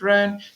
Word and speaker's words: Rhône: Rhone and the Saône, in French it's Rhône and Saône, but in English we pronounce it Rhone.